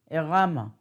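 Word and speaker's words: Arama: It is spelled like Yiddish, but it's not, he is not Yiddish, he's Spanish. Ayin Reish Aleph Mem Hey, Erama.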